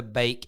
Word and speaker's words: Beek: week donny van der beek and it is pronounced bake not beak is a manchester united